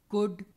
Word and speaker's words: could: Calm, should, could, half. L is silent, whereas in cold or gold, L is pronounced.